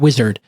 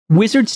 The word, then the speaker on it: Uizard: So let me tell you about Uizard. It's spelled Uizard.